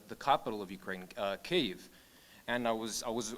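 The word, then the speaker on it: Kyiv: was i was uh talking about cave and referencing it with the proper ukrainian pronunciation and then somebody came up to me and said oh you know i don't really know what you're talking about don't you mean kiev you know that's which is the russian like colonial pronunciation of of our capital and i said no no that you know that's that's the incorrect pronunciation that person wouldn't accept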